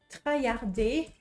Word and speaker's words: traillarder: try hard et oui try hardard avec une prononciation française ça fait trard et puis après quand je l'écris avec les règles d'écriture française trayarder c'est parfaitement logique donc